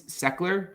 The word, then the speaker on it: Sechler: So I have my last name's Seckler, but it's like spelled like Sechler.